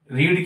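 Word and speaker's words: read: book is उसके बाद third form रीड की रीड की रीड स्पेलिंग में रहती है रीड ठीक है a book is रेड आर ई एडी spelling वही रहती है अ बुक इ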